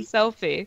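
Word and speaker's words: Selphie: It's spelled S-E-L-P-H-I-E. It's Selfie, but not like Selfie. Like, hey, let's take a selfie. Like, no.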